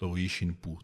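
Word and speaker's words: shinpū: The wind, the expression divine wind actually is written in two Japanese characters, which are pronounced Kamikaze in the Japanese reading and Shinpú in the Sino-Japanese reading, there depends on the circumstances, how to choose the Japanese reading or the the Sino-Japanese one.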